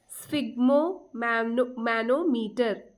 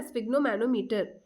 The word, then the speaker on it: sphygmomanometer: ठीक है, आपने इसका स्पेलिंग नोट किया सबने? SPHYGMOMANOMETER, स्फिग्नोमैनोमीटर। ठीक है ना, स्फिग्नोमैनोमीटर।